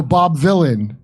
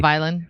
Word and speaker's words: Bob Vylan: Oh, Bob Villain. Bob Villain. Like what did I call? What did I say? Violin. Violin. Bob V. Villain. Well, it's spelled like Well, it's spelled like Dylan with a V.